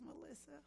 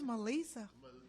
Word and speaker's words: Meli'sa: I don't know why black people always say my name is Melissa but it's Melissa yes one that